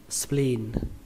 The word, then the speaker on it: spleen: Từ này các bạn lưu ý là ở đây nó ghi hai âm E, vì vậy mình sẽ đọc là mình kéo âm E, âm I này ra là thành âm I dài các bạn nhé.